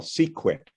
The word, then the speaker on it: CQUIC: And I'm the director for the Center for Quantum Information and Control, which we call CQUIC, rhymes with Bisquick.